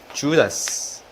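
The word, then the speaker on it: Judas: 영어 발음은요, 주다스. 네, 뒤에 이름도 이스케리어트, 주다스 이스케리어트라고 하고요.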